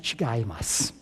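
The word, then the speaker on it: 違う: a little Japanese in here that word is pronounced chigas and I was told by one of my Japanese professors it's probably the second most common word in Japanese now I think he's exaggerating but still basically Chimas means it's different and if a Japanese person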